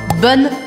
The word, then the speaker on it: bonne: Eu falo bonne fête, bonne fête. Então, bonne é no feminino plural, bonne, mas eu vou pronunciar até o N, bonne, bonne, e fête, bonne fête.